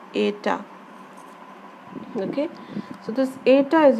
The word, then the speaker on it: eta: Then this symbol is known as, pronounced as eta, okay?